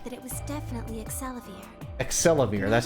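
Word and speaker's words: Axelavir: Excelivir, that's how you pronounce it.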